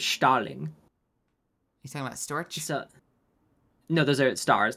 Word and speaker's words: Storch: And then like Storch is like a stork, but Storch is like how you say stork in German, so Storch.